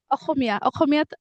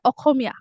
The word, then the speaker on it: অসমীয়া: অসমীয়াত আমি অসমীয়া কওঁ.